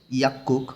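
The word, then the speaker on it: 약국: 22 অধ্যায়ের একদম শুরুতেই লেখা আছে ইয়াক্কুক অর্থ ফার্মেসি। গিয়ক বাসিমের পরে আবার গিয়ক আসছে। নিয়ম অনুযায়ী এখানে দুইটাই কয় ক উচ্চারণ করতে হবে।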